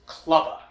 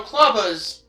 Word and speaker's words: Clubba: maces, known only as Clubba. And yeah, I know what you might be thinking. Clubba rhymes with Tubba Blubba, doesn't it?